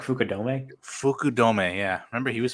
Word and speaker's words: Fukudome: Isn't it pronounced like Fukudome?